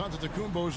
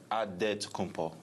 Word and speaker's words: Antetokounmpo: In the Jewish way, you gotta say with a D, so it's Antetokounmpo. But in the Greek way, you say with an NT, like Antetokounmpo.